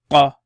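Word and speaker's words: ق: So that's fa, and this one's qa. Qa. So curled qa. Qa. Now this is different from kaf, which is going to come. You pronounce it from the depths of your throat. Qa. Qa. Qa.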